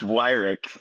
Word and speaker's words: Wirick: It's pronounced Wirick. Wirick.